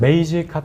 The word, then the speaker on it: Magecart: 발음을? 메이지 카트? 메이지 카트.